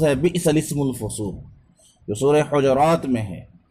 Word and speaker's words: بئس الاسم الفسوق: جس کا تلفظ ہے بئس الاسم الفسوق، جو سورہ حجرات میں ہے، اس میں بئس کے بعد لام مکسور، اس کے بعد سین ساکن ہے، اور لام سے پہلے